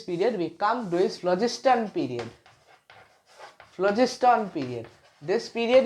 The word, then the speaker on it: phlogiston: Okay, I personally remember it as pH phlogiston theory, but pronunciation will be very awkward, so I am saying it as phlogiston.